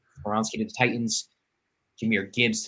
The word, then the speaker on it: Skoronski: Peter Skoronski. Skoronski to the Titans, Jahmyr Gibbs to the Lions,